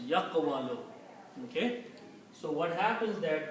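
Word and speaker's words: يقول: If we put the same harakats as we put in here on these three letters, this will pronounce like yaqwalu. Okay? Pronunciation will be yaqwalu, and the meaning will be he says, third person.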